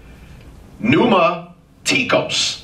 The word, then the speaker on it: pneumatikos: You spell new with a P? It's Greek. P-N-E-U-M-A-T-I-K-O-S. Pneumatikos. I'll say it again. P-N-E-U-M-A-T-I-K-O-S.